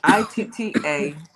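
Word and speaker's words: Itta Bena: It's Itta-Bena. Ida Bena is how I would pronounce it.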